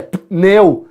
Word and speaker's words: pneu: A pronúncia correta é adverte, é advogado, é pneu, é ritmo. Só que a maioria das pessoas não falam assim. A gente faz o acréscimo desse i que não existe, mas no nível coloquial esse acréscimo aparece.